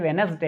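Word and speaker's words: Wednesday: witness दे नहीं है बट उच्चारण अगर हम सही करेंगे प्रोनाउंस सही करेंगे समझ में आएगा यह वेडनेसडे है यानी की वेडनेसडे हैं तो इसमें दी नहीं पढ़ा गया है यहां पर देखिए दी साइलेंट है उसके बाद यहां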